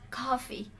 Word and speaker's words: coffee: So please remember that coffee has a short e.